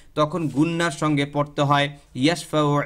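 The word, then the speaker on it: يشفع: ইয়াশফাউ, এখানে কোনো মদ নাই, কিচ্ছু নাই, কোনো নিয়ম নাই, শুধু এখানে হরকত, মানে দ্রুত পড়তে হবে।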